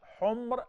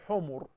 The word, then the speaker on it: Humr: Humr, plural of Ahmar, means red. A lot of people, including Arab, mispronounce it by saying Humur.